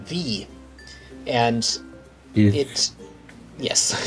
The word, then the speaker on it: vis: are nodes in the form of it's called V and you hit yes it's spelled vis but it's usually pronounced vee or visa anyway if you right click on